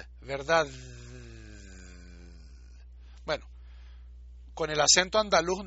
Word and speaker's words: verdad: O sea, en Colombia mucha gente dice verdad, y pone fonéticamente ponen una T al final. Pero, o sea, si uno la pronuncia bien, verdad.